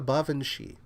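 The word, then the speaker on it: baobhan: cannot spell it and it's not spelled like it sounds because it's a uh because of the language it comes from it's called a bavi and bavi is something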